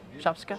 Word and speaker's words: shopska: Do I pronounce that properly? Shopska?